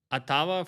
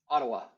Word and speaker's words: Ottawa: The best tool I've ever tried at finding our specific ICP which I' I've had a very difficult time with Atava forever or would you rather move something else somewhere else?